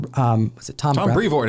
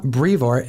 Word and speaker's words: Brevoort: Tom Brevoort is how Donny Cates pronounced it. Yeah, Tom Brevoort.